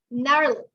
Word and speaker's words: gnarl: Gnarl. Remember, the letter G is silent.